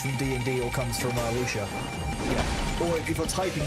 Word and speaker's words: wuxia: I think it's like kind of wuxia vibes. You know, any kind of cultivation-based myths. You know, things like ki and that kind of normal monk powers from D&D all comes from wuxia.